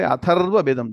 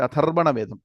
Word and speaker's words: Atharva Vedam: One should say Atharva Vedam, don't say Atharvana Vedam. Atharvana Vedam is wrong pronunciation. Atharvanaha was a rishi, so it's called Atharva Vedam.